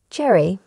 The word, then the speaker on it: Gerry: first first golden Bachelor Jerry pronounced like Gary 71 is a sheltered